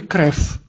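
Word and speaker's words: krew: Или в слове «крев». «Крев» – это значит «кровь» по-русски. «Крев» в этом слове «в» стоит в конце и читается как «ф».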